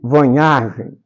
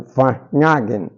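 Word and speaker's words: Varnhagen: escrita por Francisco Adolfo de Vanhargen ou Vaggen, conforme a pronúncia que escolhermos.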